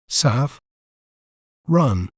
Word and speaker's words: saffron: to pronounce it correctly saffron saffron saf run remember it's not saffron it's saffron saffron is crucial in various